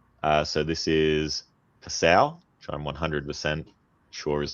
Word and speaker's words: Passau: So this is Passau, which I'm 100% sure is the way you pronounce that.